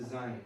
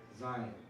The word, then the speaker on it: Zayin: That is the Zayin. And that has the Z sound. Right? Zayin.